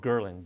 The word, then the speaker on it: ghrelin: There's a hormone named called ghrelin, G-H-R-E-L-I-N, so people can Google it. Ghrelin, it's the hunger hormone. Spell it again, G-H?